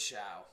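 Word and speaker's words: Shough: But is it pronounced Shuck or Shia? It's Shiao. Shia. I've been hearing people say Sha.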